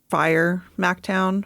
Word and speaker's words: FYR MacTown: It's FYR MacTown. It's pronounced Fire MacTown.